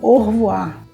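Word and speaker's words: au revoir: uma forma reduzida porque a palavra é o a u separado revoar mas os franceses dizem eles juntam tudo e dizem or voar então quando a gente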